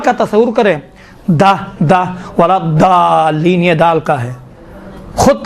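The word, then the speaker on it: الضالين: الی النور، من الظلمات، یہ باقی دال کا ضاد کا تلفظ تھوڑا سا مشکل ہے انشاءاللہ تعالیٰ، یہ ضاد کا تھوڑا سا دقت کریں، ولا الضالین، دیکھیں ضا کہاں بعد ہے، ضا میں دیکھیں ولا الضالین کہیں گے تو کیا ہوتا ہے؟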